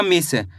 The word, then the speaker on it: मिस: अगर आप मिस पढ़ोगे तो यहां पे बड़ी ई की मात्रा का उच्चारण हो जाएगा। तो शब्द गलत हो जाएगा। कैसे पढ़ेंगे मिस? यानी कि कम खींच के पढ़ेंगे। म में छोटी इ की मात्रा मी स तो मिलके बन जाएगा मिस।